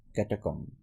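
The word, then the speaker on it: catacomb: বমিং বমিং রিক্লাইম এটা হচ্ছে রিক্লাইম এটা হচ্ছে ক্যাটাকম এটা হচ্ছে ক্যাটাকম তাহলে আমরা এখানে যে যতগুলো শব্দ পড়লাম।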